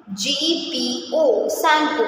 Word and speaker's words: Tsangpo: In this TSANGPO, सैंपो. In this the letter T is silent.